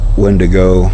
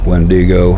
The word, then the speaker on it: wendigo: unlike something like a windy windigo wendigo whichever way you prefer to pronounce it those are typically created